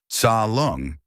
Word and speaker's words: Tsa Lung: Tsa Lung, say it like this, t s a lung.